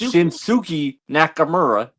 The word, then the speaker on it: Shinsuke Nakamura: And second of all, all of y'all have been pronouncing Shinsuke's name wrong. It's Shinsuki Nakamura. Nakamura.